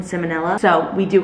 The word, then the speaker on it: salmonella: yes I do know it's not pronounced salmon vanilla but I think it's funny you're calling it salmon vanilla than salmonella so we do call